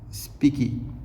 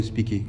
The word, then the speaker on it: Speke: Le cinquième, c'est John Speke ou Speke, comme tu le prononces. En anglais, ils diront John Speke en anglais. Et en français, ils vont dire John Speke.